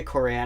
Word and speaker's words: Quran: just read the Quran no it's the qur'an the Quran I don't know it's not like this is amazing Quran like good character and something no it's I mean it's spelled Quran or Quran it has an apostrophe yeah you know well